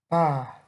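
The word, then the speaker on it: בא: And the pronunciation of this word, like the modern Hebrew pronunciation, ba, ba, and in the future form, yavo, yavo. And this word is used hundreds of times in the Bible.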